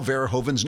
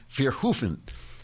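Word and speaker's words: Verhoeven: said you're mangling Paul verhoven name verhoven pronounces his name f hofen and so I wrote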